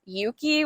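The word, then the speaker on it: Euki: any data at all Yuki which is spelled e-uk-i I think it's like named after eucalyptus um these that app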